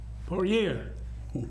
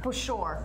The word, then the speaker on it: Pushor: I'm Carey Campbell here with Kate Alexandrova and Steve Pushor. Say it right this time, Steve. Pushor.